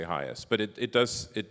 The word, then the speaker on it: HIAS: way that you pronounce our name like Henry pronounces it hias which is the way it was done in